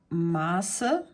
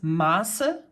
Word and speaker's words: Maße: it's, first of all, it's pronounced differently, you would elongate the vowel that's in front of this S set, whereas this is, you know, pronounced rather shortly. So this is Maße and this is Masse.